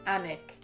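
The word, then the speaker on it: Alnwick: town of allen which became alan wick or hanek as we pronounce it same with beric why do we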